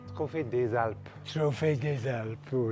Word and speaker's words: Trophée des Alpes: Did I pronounce that correctly? Trophée des Alpes.